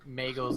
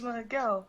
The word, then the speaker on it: Miguel: His name's Miguel, which rhymes with Danielle, which rhymes with Hell.